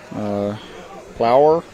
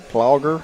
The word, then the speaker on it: Plauger: The outfield's going to be Carter, Plower. I hope I'm saying that correctly. And Ian Wolf. We're going to right. Plauger, I believe, is a better pronouncing.